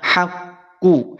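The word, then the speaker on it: حَقُّ: Cara mengucapkan dhammah, monyongkan kedua bibir kita. Haqqu, haqqu, ku, a, i, u, monyongkan.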